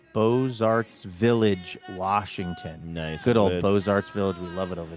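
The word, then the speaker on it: Beaux Arts: Good old Bozarts Village. We love it over there. Yes. Love that you get to say that cuz I can never remember which letters are pronounced. Bose.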